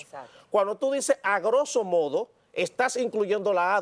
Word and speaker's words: grosso modo: medios de comunicación que dicen la palabra a grosso modo. Ahí hay un error. La palabra correcta, la pronunciación es grosso modo, porque la palabra grosso modo en sí mismo incluye el A en la traducción al español.